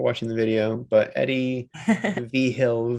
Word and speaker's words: Vigil: I don't know if people are watching the video, but Eddie Vhill V. The V is the Roman numeral for the fifth. Vhill spelled like Vigil.